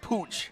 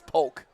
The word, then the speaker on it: Pooch: six poke yes his name is spelled p-o-o-c-h but it's Pooch it looks like Pooch but it's Polk I almost said pooch